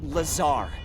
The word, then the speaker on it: Lazar: and it sails liaison it's Lazar actually Accent on the Czar but yes I'm your